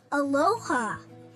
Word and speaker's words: Aloha: Aloha.